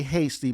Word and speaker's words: Heastie: is that the or is it hasty or he see i'm sorry i say hasty my snobbish brother says he's still oh no oh really